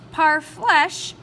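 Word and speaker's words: parfleche: going to keep going par flesh pronounced par flesh were made from hides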